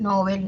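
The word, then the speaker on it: novel: con V, pero que no cambia en la pronunciación, es igual, Nobel, Nobel, ¿no?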